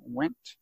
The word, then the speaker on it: Wendt: you are Alexander Wendt is that a fair pronunciation of the last thing went yes and you can just